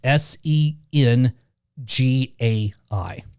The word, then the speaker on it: Sengai: correctly or not, so forgive me if I mispronounce it, but it's either Sengai or Sengai. Okay, it's Sengai.